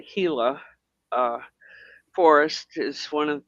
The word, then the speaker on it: Gila: Up in the Gila and it's spelled Gila. Give don't ask me why. I don't know. And it's called the Hila uh forest is one